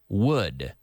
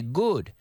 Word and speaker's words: would: the same as wood as in Madera yes wood wood so if there had been a party they would have gone wood is the same pronunciation as Madera but mysteriously a lot of people say good they pronounce it like a G but you